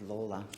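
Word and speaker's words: Lalor: at the seat that I represent is called Lawler after the great Peter Lawler and I'll never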